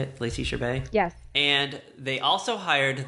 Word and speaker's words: Chabert: Lacey Chabert?